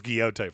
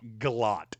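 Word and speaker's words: Gillotte: I thought it was Guiote for the longest time, but apparently he is not related to Don Kiote. It's Galot.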